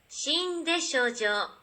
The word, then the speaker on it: Shin Deshojo: Shin Deshojo. And again. Shin Deshojo. That's how you pronounce it.